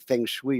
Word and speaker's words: feng shui: I guess they were looking for a different feng shui or something of that sort. Did Oh, I that's pronounce that funny.